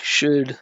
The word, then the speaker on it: should: We say should, should is without an L.